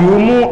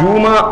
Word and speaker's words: جمعہ: ایک قول یہ ہے کہ میم کے پیش کے ساتھ جمعہ آ, ایک قول یہ ہے کہ میم کے زبر کے ساتھ جمعہ آ, ایک قول یہ